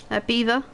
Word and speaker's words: Belvoir: way it's very nice very nice beaver that's spelled Belvoir so everybody who's not